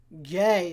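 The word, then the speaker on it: Gueye: Gay.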